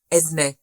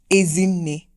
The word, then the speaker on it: Ezinne: A lot of people think they know how to say my name, but they don't. Oh, shame. All these years, everybody thinks they've said it right, but it's not. It's actually Ezinne.